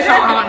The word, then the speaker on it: Sharhonda: I'm about to say Sharhonda. I get called that all the time. So I'm the H is silent. Sharhonda.